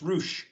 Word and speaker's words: Rush: penta ascuro versus roosh even though his name is spelled rush but it's roosh hey i got a question